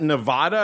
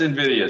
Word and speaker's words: Nvidia: not that familiar with how do you pronounce this is that is that Nevada is that how you say that sir that's Nvidia sir oh oh I'm not